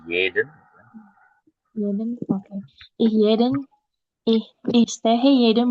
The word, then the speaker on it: jeden: Oke, IGH Morgan kalau ada huruf J itu dibacanya Y ya, jadi jeden.